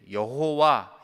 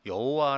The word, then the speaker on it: 여호와: 또 또 그 안에 그 밑에서 여호와 라고 하는 다른 뭐 아도나이 라고 하는 그 자음 모음을 붙이면 여호와 라고 하는 발음으로 불려진다 어 것을 우리는 여러가지